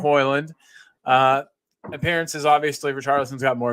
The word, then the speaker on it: Højlund: So this is Haaland, or however you pronounce his name, the striker for United. Højlund, thank you. Yeah. Højlund.